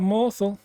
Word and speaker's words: Morthal: what they say about Morthal it rhymes with awful and there's a reason